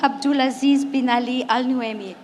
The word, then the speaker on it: Abdul Aziz bin Ali Al Nuaimi: Abdul Aziz bin Ali Al Nuaimi.